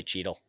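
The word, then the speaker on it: Chytil: If I've been saying, I still say Cheadle. Yeah, exactly. And I know that the C is silent.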